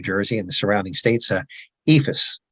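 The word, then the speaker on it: EIFS: and the surrounding states ephus or Eeps as Some people prefer to pronounce it is an um also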